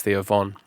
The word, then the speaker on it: Theo Von: Did you say Vaughn or Von? Theo Vaughn then, but I think it's Theo Von. That's how it's spelled.